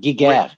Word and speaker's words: Giger: HR guider je sais pas gig ou qu'on prononceer est allemand c'est allemand c'est Giger allemand et puis ouais on on ont implanté